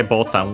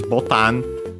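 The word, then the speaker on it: ボタン: from Portuguese, botão, and it's also unaccented, potentially also because of that, and also because it came in Japanese way earlier, and yeah, that's why it's also from Portuguese.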